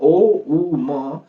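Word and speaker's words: ॐ: सिखाते हैं राइट जैसे ओ तो तीन सेलेबल है हमेशा हम बात करते हैं ओ उ म इन तीनों सेलेबस को फील करना है राइट तो पहला जो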